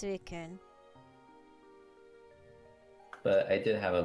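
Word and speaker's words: Suicune: You don't pronounce the E. Oh, so it's suikun.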